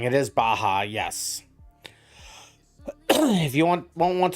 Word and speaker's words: Baja: It is Baja, yes.